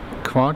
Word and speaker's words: Kvart: how to pronounce our company name hi we pronounce it qu or bu yeah what he said so where